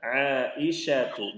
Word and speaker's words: Aisyatu: Jadi pelafalannya harus benar. Aisyatu, bukan Aisyah. La Aisyatu la. Sya bukan sa.